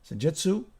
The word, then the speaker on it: Senjutsu: Title track Senjutsu, that's how you pronounce it, is is where he shines the most because he's bringing it home with that song.